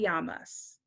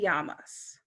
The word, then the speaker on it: llamas: In Spanish, a double L makes a Y sound. So if someone says, ¿Cómo te llamas?